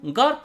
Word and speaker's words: garb: battığı istikametin adı garb biz onu g ve P ile garb şeklinde telaffuz ediyoruz yine garb kelimesinin gün